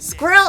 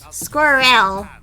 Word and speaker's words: squirrel: caught up in a squirrel is only one syllables but he's putting at least two in there but somehow the way he says it makes it sound like three he's saying like squirel squir he's saying squir L but in the US we say squirrel and I don't like